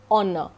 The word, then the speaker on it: honor: In case of the fourth word honor, O again, you start the pronunciation or utterance with O, honor. H is silent.